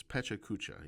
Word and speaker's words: Pecha Kucha: It's pachukucha. Even though you may hear other people pronounce it in other ways.